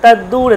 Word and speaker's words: তদ্দূরে: জ্যোতি তদ্দূরে তদ্বন্তিকে, তদ্দূরে, তদ্দূরে, দেখুন তদ্দূরে বানানটার মধ্যে আছে তদ্দূরে, মানে দুটো আছে, তদ একটা দ আর দূরের দ মিলে গেলে তদ্দূরে, তাহলে দুটো দকে এমন উচ্চারণ করতে হবে, তদ্দূরে তদ্বন্তিকে, তদ অন্তিকে